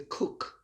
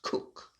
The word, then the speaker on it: Coke: of leicester or the cook as it is pronounced it's spelled coke c-o-k-e but it's pronounced cook in much the same